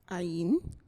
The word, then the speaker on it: Ain: I don't know what other people might know you as Ian. Ayin. Ayin? Mm-hmm. That's what I was waiting for. Somebody, the pronunciation.